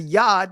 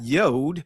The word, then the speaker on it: yod: Then we see the yad, that's the proper pronunciation of it. It's the yad, not yod, because number one, we just proved that there's no o sounds in ancient Hebrew. So, how is this pronounced yod?